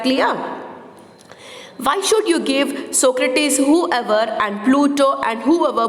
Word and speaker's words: Socrates: r a t e s how do you pronounce this word it is socrates okay socrates plato and aristotle more food she